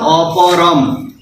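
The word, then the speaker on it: অপরং: অপরম। অনুস্বার থাকলে ময়ের উচ্চারণ করব, অপরম।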